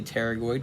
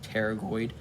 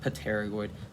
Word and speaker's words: pterygoid: over the pterygoid canal i say pterygoid because the p is silent just like in pterodactyl so pterygoid not paternoid pterygoid so artery of pterygoid